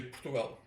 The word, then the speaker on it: Portugal: No, it seems more correct because you're emphasizing the right syllable, right? Because when you say Portugal, you're it's very closed, but we say Portugal. We Yeah. open it at the end.